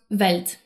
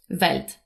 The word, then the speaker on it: Welt: For example, the letter W in German is pronounced more like the English V. In linguistics, we call this a voiced labial velar approximant. But for now, we'll call it the V sound. So the word for world in German is spelled with a W at the beginning, but it's pronounced Welt.